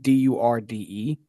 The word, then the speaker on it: Durde: One is Durd, and the other one is Durdy because it's two E's. So when you got the two E's, you got to extend the E's.